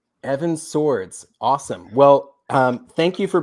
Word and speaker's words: Sowards: It is actually pronounced like two swords. So Evan Swords, like plural of sword. Evan Swords.